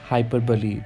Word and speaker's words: hyperbole: So we pronounce this figure of speech as hyperbole, which means in Hindi अतिशयोक्ति अलंकार.